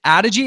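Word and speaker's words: Adogy: John founded, is it Adigi? Is that how you pronounce it?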